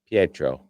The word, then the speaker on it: Pietro: Vision confronts Wanda about her actions, but they're interrupted when Pietro arrives. Pietro.